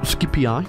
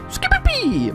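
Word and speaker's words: Scipii: eye or the skippy a lot of people think it's pronounced skippy eye it's not it's a scooby-pee and if i remember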